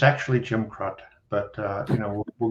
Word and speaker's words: Krut: the square in town and he said here's Jim Crook and I said well it's actually Jim crott but uh you know we'll go with that